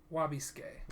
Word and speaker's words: Wabisuke: next character is wabasuki wabisuke uchi wabisuke i always wanna say suki it's they don't say the su they just say wabiscay lobby skin i think